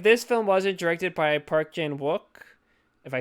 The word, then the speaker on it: Park Chan-wook: Like, I feel like if this film wasn't directed by Park Chan-Wook, if I said his name right, did I say it right? Yes, Park Chan-Wook.